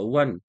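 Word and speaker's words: one: तो मैंने 1 रुपए का कॉइन देखा, वन, वा से प्रोनाउंसिएशन, ए आर्टिकल।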